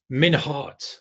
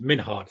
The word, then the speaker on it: Minhart: Minhart, that's exactly the right pronunciation. I read it. I paused. Minhart.